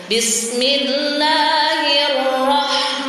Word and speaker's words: Bismillahirrahmanirrahim: Nah, jadi dalam hal pengucapan ro memang termasuk huruf takriri, jadi ada getarannya. Bismillahirrahmanirrahim.